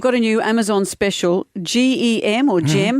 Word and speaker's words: Gem: And you've got a new Amazon special, GEM or GEM. How do we pronounce that, Hugh?